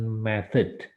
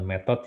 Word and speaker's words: method: Cara itu sama dengan method. Bacanya bukan method ya, tapi method.